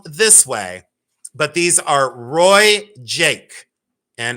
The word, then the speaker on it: RoieJaque: And these are it's pronounced Roy Jake, okay? It's pronounced Roy Jake.